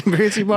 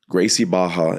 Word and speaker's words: Gracie Barra: It's uh has an R but it starts with a H or pronounces like an H. Yeah. So Gracie Baja is uh the biggest juju school in the world.